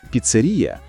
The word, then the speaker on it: піцерія: Піцерія. Хоч у розмовній мові часто кажуть піцерія, проте нормативна літературна вимова - піцерія.